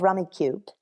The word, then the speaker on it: Rummikub: um the game that i'm playing is called rummy cubed how do you spell it uh that would be r-u-m-m-i-k-u-b k-u-b like